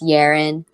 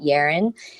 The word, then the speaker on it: Yerin: them um you know it's easy to pronounce my name if you think of it as Aaron with the Y in front and then that makes it yarn and then people be